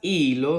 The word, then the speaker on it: hilo: con la letra h y cuando la letra h está sola que no tiene una c aquí delante es muda por tanto suena como Suena la vocal la H con la i va a sonar como I muy bien porque la